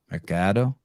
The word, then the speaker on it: Mercado: Mercado. Rhymes with avocado.